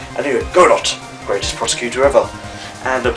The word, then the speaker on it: Godot: It featured Godot, or Godot as some people like to pronounce it for some reason. Anyway, Godot, greatest prosecutor ever.